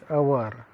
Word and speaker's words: hour: Okay, consonant like consonant hour h, but the word begins with, or the pronunciation of the word begins with the vowel like sound, not hour.